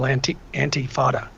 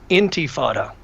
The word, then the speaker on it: intifada: And the very fact that this guy won't even speak out against a global antifada. Mm-hmm. How do you spell that?